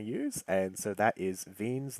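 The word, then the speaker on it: Wien: and so that is vein's law I believe I'm pronouncing that correct spelled w-i-e-n-s so veins law so the way that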